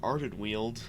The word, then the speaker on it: Ardenweald: Alright, this is Ardenweald. Pronounced Ardenweald.